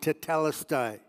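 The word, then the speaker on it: τετέλεσται: his spirit and died the Greek word for that phrase it is finished is pronounced talisi and archaeologists have found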